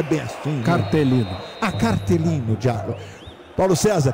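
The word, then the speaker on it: cartellino: É, em italiano seria cartolino giallo. Júnior, vocês que jogaram. Ah, então já fizeram ok aqui. A pronúncia não é bem assim. Cartelino.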